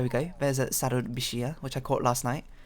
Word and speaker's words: bichir: And I've googled it, apparently it's pronounced bishia, not bichir, as I kept saying.